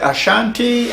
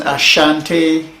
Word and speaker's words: Ashanti: Asante is what we really call ourselves, the Asantes, but the English made it SH. They think that the pronunciation of Asante has to have H in it. So sometimes I will be using Ashanti as colonial masters give